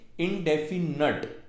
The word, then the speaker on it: indefinite: इनके पार्ट्स के नाम होते हैं, पहला पार्ट होता है इंडेफिनिट। अगेन इसकी प्रोनाउंसिएशन पे ध्यान दीजिए, इंडेफिनट। लोग इसे इंडेफिनेट बोलते हैं पर इसकी सही प्रोनाउंसिएशन इंडेफिनट होती है।